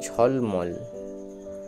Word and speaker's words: ঝলমল: Next আছে ঝলমল, ঝ অর্থাৎ হাত তুলো ঝও বলে অনেককে, তাহলে এর অ্যাকচুয়াল উচ্চারণটা হলো ঝ, ঝ এবং ল, ঝল মল, মল, ঝল মল, ঝলমল।